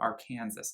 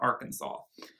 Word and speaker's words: Arkansas: go back to arkansas she pronounced it our kansas not arkansas trade this body for